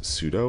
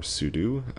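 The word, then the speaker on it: sudo: we need to use pseudo or Pudu depending on how you pronounce it or how you've learned over the years to pronounce it and um so just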